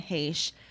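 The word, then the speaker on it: Heche: h-e-c-h-e i don't know so he said no one has ever mispronounced it as hesh it's always been heish and so he he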